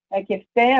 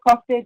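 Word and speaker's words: köfte: words that are Turkish in the Greek cuisine, kefte or kofte, depending on how you pronounce it, and Turkish coffee, Greek coffee, Arabic coffee.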